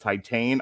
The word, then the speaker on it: Titane: by julia di cornell uh pronounced titan i'm just going to